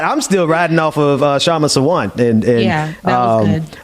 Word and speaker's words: Kshama: I'm still riding off of Kshama Sawant, and that was good. I'm gonna learn how to pronounce people's names going forward before I bring them on the show. So I apologize. That K is silent.